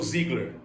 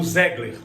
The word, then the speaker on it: Zegler: A Rachel Ziggler ou Zegler, como você quiser pronunciar.